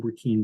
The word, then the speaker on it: Burkeen: I'm Burkeen, by the way. That's the way you pronounce my last name.